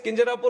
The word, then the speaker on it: Kinjarapu: And my name is Kinjarapu Rammohan Naidu.